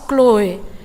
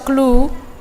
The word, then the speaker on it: Chloe: Namar goar si Chloe. Sering dibaca dalam bahasa Indonesia Clue. Jadi ini ada versi berbagai pembacaan. Dalam bahasa Batak tidak terlalu jelas tanda bacanya, tapi bisa disebut dengan Chloe atau Clue, ini sama.